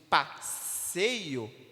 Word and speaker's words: passeio: Mas se eu pego a palavra, por exemplo, de passeio, P-A-S-S-E-I-O, 7 letras, mas apenas 6 fonemas, porque o SS representa apenas um som, passeio.